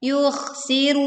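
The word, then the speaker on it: يُخْسِرُونَ: Yuh, yuh, huruf kh dibaca dengan suara yang tebal. Yukhsirun.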